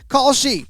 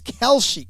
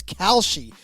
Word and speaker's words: Kalshi: to tell you about Khi. We've just partnered up with Khi, a real money I'm sorry, it's Kelshi. Khi. I've been watching the commercial so much I've been mispronouncing it. So, it's Kalshi.